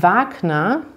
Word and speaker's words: Wagner: oder jannis bäcker becker und beim wagner da seht ihr dass das hier lang ausgesprochen wird im gegensatz zu den